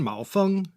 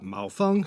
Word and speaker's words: Maofeng: another famous green tea huangshan malfung ah mao fung so we know right